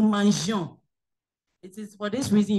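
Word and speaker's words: mangeons: Okay, because of pronunciation sake, you don't say no mangon. So you have to bring E to bring that what, flow, no mangion.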